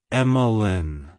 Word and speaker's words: Emmalynn: meanings it's pronounced as emlin emlin emlin to pronounce it correctly emphasis is on the first syllable the m and the